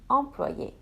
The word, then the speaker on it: employée: The extra E is silent. So both masculine and feminine will have the same pronunciation. Un employé and une employée, an employee.